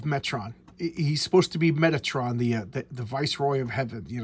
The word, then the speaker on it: Metatron: So whenever you hear like in the Bible that God is speaking, it's supposed to be Metron is speaking. Metron is the voice of God. Metatron.